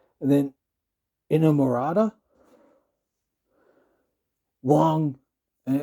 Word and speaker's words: Inamorata: And then Inamorata, long, and it sort of rhymes with Inagata Davida, Inamorata.